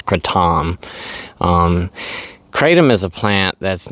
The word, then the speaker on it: kratom: And what I want to talk about today is Kratom. Or referred to as Kratom. But here in the United States, pretty much everybody refers to it as Kratom. But like I said, I think the actual pronunciation of it is Kratom.